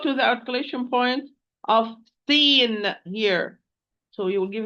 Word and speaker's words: س: They are the end of the tip, end of the tip, with the bottom of the lower central incisors from inside.